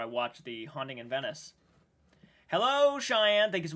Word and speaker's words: Venice: A haunting in Venice. I keep saying Venice. I apologize, during the trailer reaction, I kept saying Venice. It is Venice, is how you pronounce that.